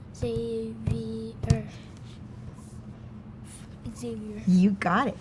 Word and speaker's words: Xavier: Xavier. How many syllables in your name? 4. Okay, let's stomp them. Xavier. Xavier.